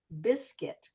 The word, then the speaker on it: biscuit: Biscuit. We've got a UI combination.